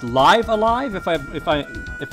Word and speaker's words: Live A Live: for you I think it's actually supposed to be pronounced live alive if I if I